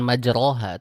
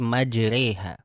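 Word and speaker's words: مجراها: Nah, jadi ketika sampai di kata majraha kita bacanya bukan majroha tapi majriha.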